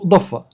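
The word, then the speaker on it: ضفة: مش شفه قصده ضفه هي ضفه فعلا اه ضفه فعلا ديت الحرف ده ينطق ضاد الحرف ده الضاد اهوت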